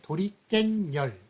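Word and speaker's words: 도리깻열: 그래서 도리깬열, 도리깨와 열이 합쳐진 건데 발음이 도리깬열 이런 식으로 나거든요.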